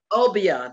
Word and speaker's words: obeah: of obeah okay it's referred to as uh obia obiya that's how they pronounce it obiya obia is a system of